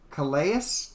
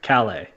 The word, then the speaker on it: Calais: one last one Raven coleus Damon I said it wrong it's Calais Calais dan yeah yeah all